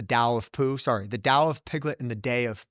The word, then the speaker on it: Tao: of piglet so uh Tao pronounced Dao it's like the TOA of chundo it's like okay you sound like a Westerner but uh I forget